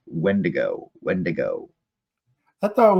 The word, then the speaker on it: wendigo: ] pronounce that right I always said wend dingo but it's not there's no n in the end of it's when to go when to go I